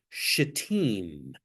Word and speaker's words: Shittim: And remember, it's Shittim, if you want to pronounce it. You can certainly just say S, but somebody pick up and read chapter 3, verses 1 through 6.